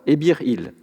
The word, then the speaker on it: Ebih-Il: Ainsi, N et T, lorsqu'ils sont ensemble, peuvent se lire Ebir, et pas nécessairement syllabiquement NT. Le signe il est en revanche syllabique, c'est-à-dire qu'il se lit pour sa valeur phonétique, donc il. Le nom de l'individu représenté donne alors Ebir-il.